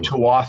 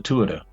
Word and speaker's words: Tuatha: you're talking about I said how do you pronounce that he says so I heard people saying TOA or all sorts of crazy things but it's the Tua according to an Irishman so I figured you